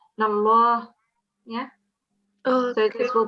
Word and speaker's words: الله: Not stretch, but you have to pronounce that with a fuller mouth. So you round it off a bit because this is the Lam al-Jalala, because it's preceded by a fatha. And whenever we have a fatha before the Lam al-Jalala, you would pronounce it as Allah.